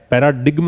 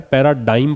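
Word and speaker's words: paradigm: सबसे पहले तो ये समझ लेना कि इसको पढ़ना क्या है, पैराडिग्म नहीं पढ़ना है, पैराडाइम पढ़ना है। जी का यहाँ पे उच्चारण जो है वो ग नहीं होता है, पैराडाइम है।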